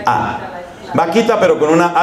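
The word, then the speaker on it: Bakhita: Santa de nuestro tiempo se escribe con la letra b a K h i t a o sea suena vaquita pero con b grande por eso lo de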